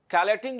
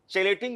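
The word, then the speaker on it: chelating: Density 2 है, और इसी को हम लोग कैलेटिंग लिगेंड भी कहते हैं। हालांकि इसको कुछ लोग चेलेटिंग लिगेंड के नाम से भी प्रोनाउंसिएशन करते हैं, तो आप जो भी आपकी मर्जी हो, है ना। जैसे हम लोग केमिस्ट्री को चेमिस्ट्री नहीं बोलते हैं, तो एक्चुअली बेसिकली कैलेटिंग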